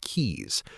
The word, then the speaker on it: Quix: Celestia Quix, pronounced Keys, has been putting the receipts on the table for so long that the table itself is now evidence.